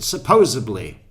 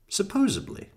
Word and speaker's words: supposedly: It's always annoyed me too when people pronounce it with a B. What do they do when they write the word down? I mean, it's just supposed and then Lee. That's all it is.